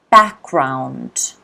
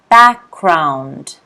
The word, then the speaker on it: background: Background. Okay. Background. Here you've got to notice that the G is not pronounced. Background, background, background.